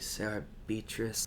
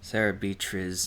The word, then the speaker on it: Sarah Beatriz: Hum, esta é Gabrielle cantando um cover de Sarah Beatrice — Sarah Beatriz, não Sarah Beatrice.